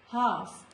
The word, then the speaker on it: half: Behalf, not behalf, behalf, calf, half. Before K also letter L is silent, like stock, chalk, talk, not talk, folk, no.